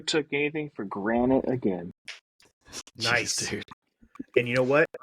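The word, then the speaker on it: gneiss: went over your head if you Google it g NE I SS that's Rock to nice it's pronounced nice so you're welcome that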